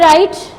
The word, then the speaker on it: write: Here is a right. We read is right, but W is silent.